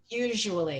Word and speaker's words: usually: Usually. It has like a z.